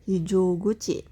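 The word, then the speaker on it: 非常口: Hijo guci. Pintu darurat. Jya panjang, h-nya pendek.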